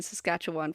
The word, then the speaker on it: Saskatchewan: damn hey pat on the back for me pronouncing Saskatchewan correctly I definitely haven't listened to a podcast